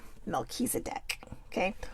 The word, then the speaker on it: Melchizedek: Melchizedek.